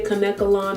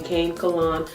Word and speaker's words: Kanekalon: cane come on hair some people say Kanekalon I really don't like that pronunciation I'm always used to staying cankle on so that's what I use and the ends